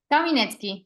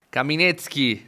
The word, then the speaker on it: Caminetsky: tenido invitados con apellidos bastante complicados Cómo se pronuncia kaminet kaminet muy bien este yo nos acabamos de